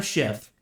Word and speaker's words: Schiff: Adam Schiff, I have to always be careful. I always mispronounce his name with the letter T.